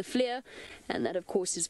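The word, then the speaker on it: FLIR: by the grace of the Flair or as we've been mispronouncing it to the Fleur but it's the Flair and that of course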